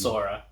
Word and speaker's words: Sora: How do you pronounce that? It's Sora.